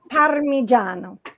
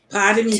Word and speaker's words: Parmigiano: So we say Parmesan. Mm-hmm. It's Parmigiano. Parmigiano.